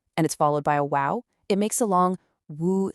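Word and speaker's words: وُ: This one gives us a short oo sound, so it's pronounced woo, like the beginning of the word wolf, woo.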